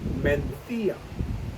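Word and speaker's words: Mencía: found exclusively in Spain called menthea and I'm using the Spanish pronunciation there you're going to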